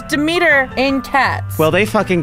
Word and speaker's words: Demeter: So we have Demeter next.